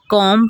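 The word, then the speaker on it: comb: किसी लफ्ज़ में M के बाद जब B आए, बॉम, कॉम, डॉम, यहाँ पर M के बाद B आ रहा है वो साइलेंट है, हम B को प्रोनाउंस नहीं करेंगे। कॉम पढ़ेंगे, कॉम, B नहीं यहाँ पर पढ़ेंगे।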